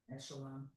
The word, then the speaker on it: echelon: Each h e l o n echelon.